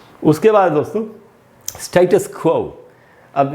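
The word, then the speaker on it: status: तो दोस्तों ये जो वर्ड है स्टेटस, ऐसे पढ़ेंगे स्टेटस। स्टेटस दोस्तों इसका ब्रिटिश उच्चारण है, अमेरिकन में इसको पढ़ते हैं स्टेटस।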